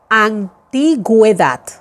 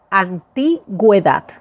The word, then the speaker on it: antigüedad: I'm pronouncing now the vowel U, la vocal U, because of the dieresis. Por ejemplo, antigüedad, antigüedad, gue, guedad, antigüedad.